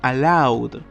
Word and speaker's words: allowed: Y allowed, en este caso la E queda muda. Y lo estamos leyendo allowed con W y saltamos a la D.